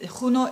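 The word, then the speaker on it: Juno: what is huno it huno is all about um I pronounce it like like Spanish because I've Been to Spain um it it is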